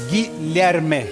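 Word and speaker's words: Guilherme: Cómo se dice tu nombre en portugués Guillermo guillerme guillerme Ah guillerme fácil guillerme Yo decía a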